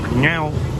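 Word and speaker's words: Ngọc: Ngok, but it's pronounced like Nyao, Nyao, something like that.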